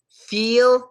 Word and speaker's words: feel: When you're making that E sound, you kind of want to smile and make a higher pitch voice and like tilt your head up a little bit. I feel good. My heel is great. But with Phil and hill, less stress, head down, deeper voice. Deeper, like deep voice.